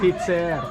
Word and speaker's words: titser: Teacher. Teacher. This is wrong. No. Pronunciation. So you pronounce it in Tagalog accent.